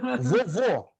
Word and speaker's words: vovô: Vovô. Qual é a sílaba mais enfática? O segundo vô.